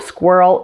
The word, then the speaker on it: squirrel: red ones too now the pronunciation of squirrel is full of hard to pronounce sounds especially the ER sound combined with the dark L at the end but let's start at